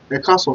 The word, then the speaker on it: Ẹ káàsán: Ekason simply means good afternoon.